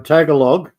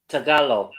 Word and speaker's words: Tagalog: around and say um tagalog she'll correct me. Tagalog. I know it's Tagalog. They open they don't pronounce the G at the end. It's a very soft G.